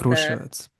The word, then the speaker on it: Kruševac: actually, the Kruševac, like, ooh, is the Kruševac. stressed. Yes, All first right.